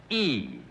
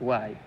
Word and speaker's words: Y: why no it's pronounced why it's pronounced why yes not pronounced e John you want to